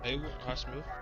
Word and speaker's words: Highsmith: Highsmith.